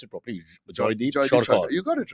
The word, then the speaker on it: Jaydeep Sarkar: Let's pronounce it properly. Jaydeep Sarkar.